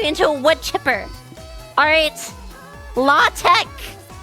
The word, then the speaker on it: LaTeX: probably know what LaTeX is.